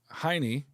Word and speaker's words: Heine: Hine. Oh, shout out Mr. Heine. Rhymes with Heimler.